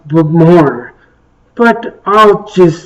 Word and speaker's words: Bowmore: I know it's pronounced Bowmore, but I'll just say Bowmore.